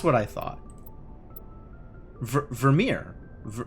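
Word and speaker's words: Virmire: Ver ver Vermeere. Ver V ver Vermeere. Not Vermeier. H how would you say that?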